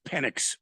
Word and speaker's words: Penix: Come on, Michael Penis Jr. You can do it. It's Penix.